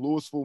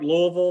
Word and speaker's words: Louisville: It is spelled like Louisville, the big city in Kentucky, but it's pronounced Louisville there.